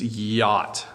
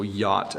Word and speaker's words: yacht: is a difficult word for English learners to pronounce it's yacht so yacht a yacht is an extremely expensive boat that's really just